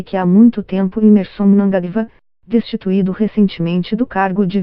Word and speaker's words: Mnangagwa: Tudo indica que a demissão fez Mnangagwa, pronuncia-se Mnangagwa, perder a paciência.